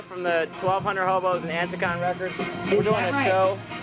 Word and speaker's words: Anticon: Now, how do we pronounce this again? Anticon. Anticon.